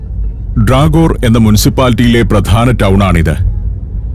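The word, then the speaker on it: Dragør: എന്നും കൃത്യമായി പറയാത്തതുപോലെ തന്നെയാണത് ഇംഗ്ലീഷിൽ ഡ്രാഗോർ എന്ന് തന്നെയാണ് ഈ സ്ഥലത്തിന്റെ പേര് ഉച്ചരിക്കുക എന്നാൽ ഡാനിഷിലുള്ള യഥാർത്ഥ ഉച്ചാരണമാണ് വിദ്യാദത് പറഞ്ഞുതന്നത് ഡ്രാഗോർ എന്ന മുൻസിപ്പാലിറ്റിയിലെ പ്രധാന ടൗൺ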